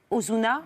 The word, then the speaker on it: Ozuna: La chanson s'appelle Arbo, co-signée avec une autre superstar latino qui s'appelle Ozuna. Je prononce bien.